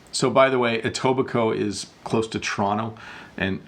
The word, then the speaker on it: Etobicoke: from tobiko Eugene says so by the way Etobicoke is close to toronto and i know it looks like a weird name of a city but it's Etobicoke that's how you pronounce it hi Bob how are you protecting